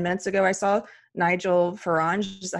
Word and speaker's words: Farage: Just this morning, I think like 10 minutes ago, I saw Nigel Farage. Is that how you say it? Yep. Nigel Farage was hit with a milkshake.